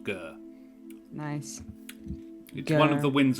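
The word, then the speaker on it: Ghur: GH you are good it is actually this pronounced gur nice one of the Winds of magic in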